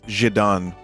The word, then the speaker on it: Zidane: Alright, we got Torgal, Tonberry, Zidane, or as I found out, his Japanese pronunciation is Jidan. So it's probably Zidane.